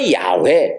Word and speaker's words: 야훼: 그래서 야훼, 여호와, 야훼 이렇게 발음이 되는 거예요.